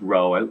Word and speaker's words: rho: this Greek letter Rho it looks like a P but is pronounced Rho similar to row row row your boat and it's drawn I